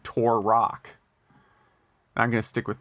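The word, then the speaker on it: Turok: way to pronounce uh turac tur in turac the dinosaur hunter turac yeah like Tupac turac well he yeah his argument should be pronounced like Tupac and I pronounce it like Tor Rock I'm going to stick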